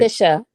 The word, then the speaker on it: Kisha: Keisha, It's right? Kisha. It's Kisha. Kisha.